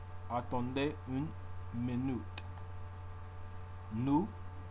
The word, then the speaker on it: nous: Nous, you drop the S.